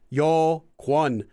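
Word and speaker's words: 여권: So yeah, like kwon, like the word for passport is spelled as yo kwon, but it's pronounced as yokwon.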